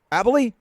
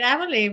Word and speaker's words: Aboli: Laura Aboli, did I say it right? That's right, Aboli.